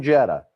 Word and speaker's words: Jeddah: jeddah the weather in jetta it almost sounds like we're trying to say jetter here in boston but no that's the name of